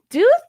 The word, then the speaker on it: Duthu: It almost like like Count Dooku.